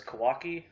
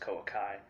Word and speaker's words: Koa'Ki Meiru: a koakameru deck profile i know everyone says kawaki but uh i'm pretty sure at least the way i see it it's canal pronounced koa kai um you know so